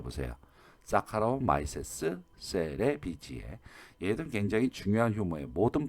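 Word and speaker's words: Saccharomyces cerevisiae: 자, 사카로마이세스 세레비지에 꼭 지금 한번 발음해 보세요. 사카로마이세스 세레비지에.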